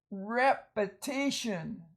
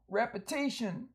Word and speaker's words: repetition: Repetition, that's not an E there, that's a schwa or a short vowel. Repetition, like you repeat something, say it more than once.